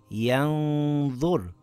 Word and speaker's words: يَنظُرُ: It reads as yanzur. I slightly hid the noon and kept the nasal sound on the makhraj of the next letter. I lengthened it for two counts with a heavy nasal sound.